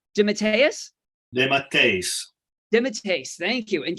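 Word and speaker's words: DeMatteis: keith geffen help me up guys i always butchered this jm it's dimitarius dimmitt's pace thank you and kevin mcguire the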